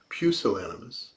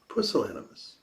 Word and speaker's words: pusillanimous: interesting word pusillanimous now some of you may know that word as pucillanimus but in europe probably the countries where it originated they pronounce it pusillanimous now some people say